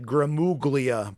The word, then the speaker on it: Gramuglia: a-g-r-a-m-u-g-l-i-a at twitter it's it sounds like gramoglia but the g is silent you should hear the